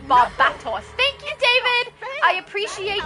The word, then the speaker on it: Barbatos: David said Barbatos. Thank you, David. I appreciate your awesome pronunciation.